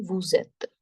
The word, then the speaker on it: vous êtes: When it starts with, when any word starts with the vowel, it carry forward the last sound. Right. So here, this is at, but this E is vowel. So it carry forward the sound of S. So it would become vous êtes. Vous êtes. The sound of S, when carrying forward, it would become Z.